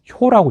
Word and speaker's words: 효: 자, 그런데 이 교자는 지금은 교라고 읽지는 않습니다. 지금은 뭐라고 읽느냐면 효라고 읽습니다. 효. 그래서 여러분 뭐 발효할 때 음식을 발효한다고 하잖아요. 그때 그 효가 효소, 효모 할 때 그 효자가 바로 이자입니다. 그런데 그 옛날에는 이것을 교라고 읽었습니다.